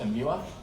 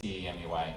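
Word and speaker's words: EEMUA: follow uh it's uh sometimes pronounced in mueller i don't like calling it like that but it's emua and uh sounds too much like new york which is awesome but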